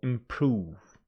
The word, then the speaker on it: improve: is Hotel this one improve improve tell you something stress pattern of most verbs falls on the second syllable it's a verb usually the verbs carry their stress on the second syllable so improve provide SP again public